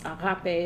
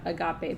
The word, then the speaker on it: agape: So pragma or pragma, I'm not pronouncing these in it's agape and not agape, but I'm not using my good Greek accent because it's complicated and I don't want to confuse people.